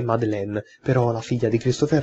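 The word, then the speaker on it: Madeline: effettivamente come si pronunciasse mi è stato comunicato che data più gente che la pronuncia corretta e madeleine però la figlia di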